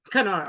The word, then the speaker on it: Kandahar: Banglad and um um Kandaya. That's how you pronounce it. Yeah. Canor. Yeah. Canar.